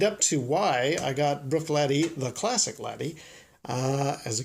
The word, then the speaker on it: Bruichladdich: Bruichladdich. That's not how you say that, actually. I believe it's properly pronounced Bruichladdich or Bruichladdich. And this stuff that's in here is the Classic Laddie.